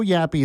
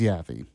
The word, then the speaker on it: Yaffee: There is no Yappy. It's not Yappy Yaffy. Yaffy or anything like that. No, my real name is Yaffy.